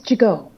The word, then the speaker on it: Gigot: Gigot. Yeah. T is silent.